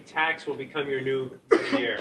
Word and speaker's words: métier: ATA. ATA. ATA. There's no R. It's silent, right? ATA. French to R's usually. Métier. Métier. Like Cartier, like the brand. Métier. Métier. 3 syllables, right?